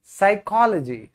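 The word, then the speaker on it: psychology: मनोविज्ञान साइकोलॉजी साइकोलॉजी साइकोलॉजी साइकोलॉजी सुना हुआ है ना साइकोलॉजी साइकोलॉजी पी साइलेंट है मनोचिकित्सिक साइकाट्रिस्ट साइकाट्रिस्ट बोलते हैं क्या प्रोनाउंसिएशन होगी मेरे साथ-साथ प्रैक्टिस करो साइकाट्रिस्ट साइकाट्रिस्ट साइकाट्रिस्ट ठीक है साइकास्ट फिर भजन।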